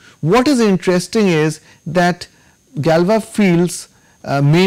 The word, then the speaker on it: Galois: It is pronounced Galois based on this guy who was French, and it is denoted by GFQ.